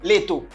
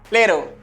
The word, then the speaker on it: little: Ou pas besoin de vider de l'eau, ou pas besoin de dire leto. Qui j'aime capable de dire? Little.